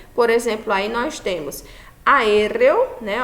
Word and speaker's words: aéreo: Por exemplo, aí nós temos aéreo, né, ó, aéreo. Então, aéreo, ela é uma palavra o quê? Esdrúxula, né? Está recaindo a sílaba tônica na terceira, na antepenúltima sílaba, e elas sempre serão acentuadas.